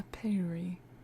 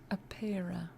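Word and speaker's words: Apeira: A Aperi. No, it's spelled differently, though. Apera.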